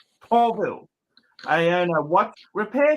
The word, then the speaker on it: Pavel: My name is Pavel, pronounced Paulville.